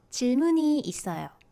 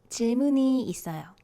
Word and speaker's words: 질문이 있어요: So the first one, 질문이 있어요. 질문이 있어요. So it should be 질문이 있어요. You can see that this 니은 carries over to the zero consonant, the 쌍시옷 carries over to the zero consonant position.